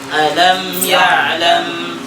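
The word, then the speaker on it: ألم يعلم: Coba antum baca alam ya'lam, panjangnya di la-nya. Pas la yang pertama.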